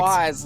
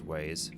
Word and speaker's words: Waze: choice between Google Maps and Waze, where like Waze was like Oh, is that how it's pronounced? How are you thought pronouncing was it? Wise, like Scott the Wise.